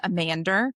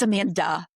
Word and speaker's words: Amanda: Like when I lived in England, I was Amander, and I was like, it's Amanda.